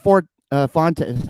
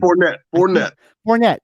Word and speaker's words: Fournette: You essentially give, are letting, you release Leonard Fort, Leonard Fort Fonte. I cannot say his name. Fournette.